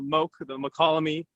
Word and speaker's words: Mokelumne: And so wow, I did know that, but I didn't know how to pronounce it. Yeah, we lovingly call it the Mokelumne.